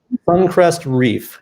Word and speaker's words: SuncrestReefer: Sun, SuncrestReeef, yes.